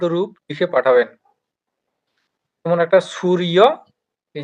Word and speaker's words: সূর্য: হ্যাঁ, অকারান্তর মতো করে সুরিয়া, হুম, সুরিয়া। এখানে দন্তস্বয়ে কিন্তু দীর্ঘ উকার রয়েছে। তো এখানে এইটা হুম, স্বরটা দীর্ঘ হবে, ঠিক আছে।